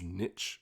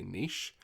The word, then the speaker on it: niche: On that topic, another pronunciation that really grates me each time I hear it is niche, whereas we would say niche. Again, they're choosing to rhyme it with itch, whilst we would be